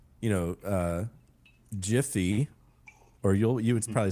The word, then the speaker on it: GIF: Um, so I would I thought it was supposed to be Jify and because it's fast like to grab one and like the it all goes together. It's all GIF and like everyone like I don't know. I don't know if I think they have taken a stance that it is gy, but I'm like